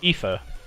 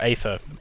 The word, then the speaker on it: aether: Our currency is called ether or aether, however it's pronounced.